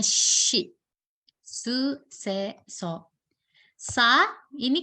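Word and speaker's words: し: Oke, jadi sa, shi ya Minasa, bukan si. Bacanya shi.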